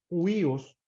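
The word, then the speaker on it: huios: que era el hijo huíos verdad h u iOS algunos lo pronuncian como judíos y en la tradición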